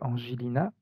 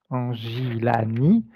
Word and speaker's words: Angilani: La partie subliminale de Angelina, c'est bien, j'ai bien prononcé? Oui, Angilani. Angelani, oui.